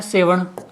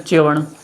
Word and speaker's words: सेवण: सर घास है और इस स को ही लोग च का उच्चारण दे देते हैं और बोल देते हैं चवण तो चवण ध्यान रखना